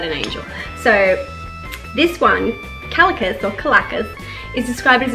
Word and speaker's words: Calacas: my god collective intelligence I'd say calico some people say Caracas it's kind of like tomato tomahto so anyway so at